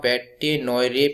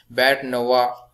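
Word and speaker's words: bête noire: थोड़ा ध्यान से करना, इसको आप बैटे नोयरे प्रोनाउंसिएशन मत करना, इसको प्रोनाउंसिएशन क्या आता है बैट नवा बैट नवा बैट नवा, तो इस तरीके से आप प्रोनाउंसिएशन कीजिए इसको।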